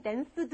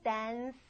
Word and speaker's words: danced: 그래서 이 D 발음이 하다 울리던 입모양 그대로인데 이번에 여러분 성대만 쓰지 않으시면 돼요.